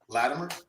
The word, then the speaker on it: Latimer: Latimer, which is where you say Latimer. I say it with a it almost sound like a D.